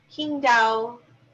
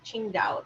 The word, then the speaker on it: Qingdao: gonna say it wrong king dao qingdao taiwan bridge i think qingdao might be how it's pronounced um this was completed in um 2011.